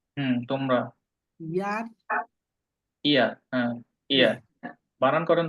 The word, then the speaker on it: ihr: ইয়ার, ইয়ার, হ্যাঁ, ইয়ার। বানান করেন তো।